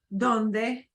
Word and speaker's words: donde: two sounds sort of it'll sound like an English deed if it starts off a word or if it's next to a consonant right uh a letter that is not a e i o u okay so this will be like what you expect donde right but it won't be done David yeah it'll be it's still a little it's kind of you know take the put off the gas pedal uh donde where uh